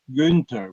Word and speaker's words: Günther: Well, Günther, would I be pronouncing it well if I say Günther? Günther, just Günther.